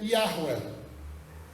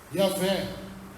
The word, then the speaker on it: Yahweh: O nome é Yahweh. Yahvé, como nós conhecemos, dessa forma.